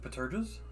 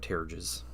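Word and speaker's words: pteruges: all the like tassel things, which not a lot of them have, but Oh, they have Paterges? no, they don't have terrages. You pronounced a P like in pterodactyl.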